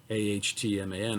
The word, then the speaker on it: atman: claim atman is brahman atman pronounced a htman atman and brahman are